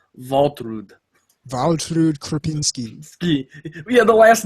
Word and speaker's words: Waltrud: Although since they're from Karlsland, we should probably pronounce them Waltrud.